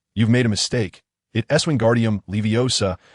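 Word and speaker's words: Wingardium Leviosa: Eswingardium leiosa and that gar should be pronounced long and clear.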